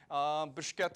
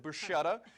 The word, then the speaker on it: bruschetta: a sweet sweet potato bruschetta bushketa as most people do pronounce it bushetta but there is a two different pronunciations uh it derives from the word bruscher to roast over open coals so that hints the name and a lot of people won't be able to pronounce it like that yeah let me try